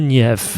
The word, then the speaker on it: Turgenev: I think it's Turgenev. Is that how you say it in English? That's how I've always said it. Turgenev. Not the soft G, but it's hard.